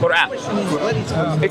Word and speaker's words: Quran: How do you say? Quran. There is a Arabic letter that will be hard to say, which is qaf. Quran. It will be hard to say because you don't have it in English.